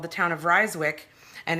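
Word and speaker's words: Rijswijck: In Holland, they use I and J to make the sound Y.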